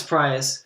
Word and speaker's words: Proyas: Yeah, it was directed by and of course we literally looked up the name to pronounce it before, and I'm gonna forget it. Alex Proyas. Alex Proyas, who directed I, Robot and Gods of Egypt.